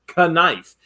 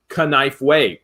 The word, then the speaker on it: knife: we can guarantee that it is pronounced knife if you pronounce it canifeway all right that being